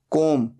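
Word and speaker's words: comb: hanging wires बाल बनाना कोम सी ओ एम बी यहां पर बी साइलेंट होता है सिर्फ बोला जाता है कोम तीन फॉर्म्स होती हैं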